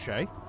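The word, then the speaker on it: Skjei: Yeah, that's an S, a K, a J in a row. So that's a note from me. Somehow that's pronounced Shay.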